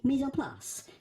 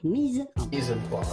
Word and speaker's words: mise en place: In English or American, you could say mise en place. Mise en place. But in French, typical French pronunciation, mise en place.